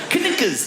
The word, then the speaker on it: knickers: Like all those words that should begin with N, but have a K of all the letters. Why would a K be silent? Knickers.